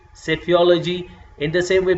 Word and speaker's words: psephology: There you will P and S is coming together, so you will say psephology.